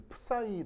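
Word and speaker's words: psi: 좀 독특한데 발음이 이제 이게 프사이 읽어요 프사이 이렇게 읽는데 예 이제 이게 그리스 알파벳이라 발음이 좀 묘하죠 근데 그 그 프사인데 이게 뭐뭐 파이 이렇게 발음하기도 해서 이게 뭐 프사이 파이 뭐 이렇게 발음할 수 있어 근데 사이가 이제 그 일반적으로 한국 사람이 발음하기 좀 어색해서 그냥 파이 이렇게 번역을 발음을 하긴 합니다만 의미는 뭐라고 했었어요 얘가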